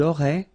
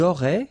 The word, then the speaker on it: auraient: And then look, if you've got A-I-E-N-T, then phonetically it goes like aurait. Okay, so phonetically you've got aurait here, aurait, aurait, and here as well, aurait. Okay, so it's quite easy to produce orally.